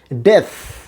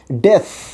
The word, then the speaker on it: death: তারপরে আসেন DEATH, এটার উচ্চারণ আমরা করি ডেথ, আমরা বলি থ, কিন্তু থ এখানে নয়, এখানেও সা সাউন্ড হবে ডেথ। আবার বলি ডেথ, আবার বলছি ডেথ, DEATH, ডেথ।